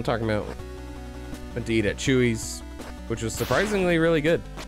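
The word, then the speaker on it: Chuy: it didn't captivate me it's spelled c-h-u-y like somebody's name chewie get down there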